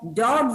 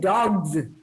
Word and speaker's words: dogs: rats and dogs see but just listen to my pronunciation i say rats is sound but dogs i said dogs why is that so how can we learn